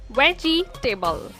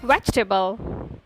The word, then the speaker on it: vegetable: It's primarily pronounced as vegetable. This is the wrong way of pronouncing it. The correct pronunciation is vegetable. Do not stress the letter G too much to avoid the mistake.